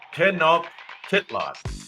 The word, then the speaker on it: Tenochtitlan: Tenochtitlan. There you go. Tenochtitlan, the capital of the Aztec Empire. Correct. Although it is spelled with an S, I will say he